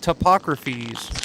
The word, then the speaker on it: Topographies: It's a group called Topographies. Or Ah, Topographies? Is Say that how 3 it's times pronounced? fast. Topographies. Right on. Topographies, not Topography.